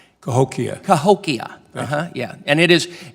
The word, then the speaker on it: Cahokia: The first thing I want to do is the name is Bost, so that's how that's pronounced. But Cahokia. Cahokia.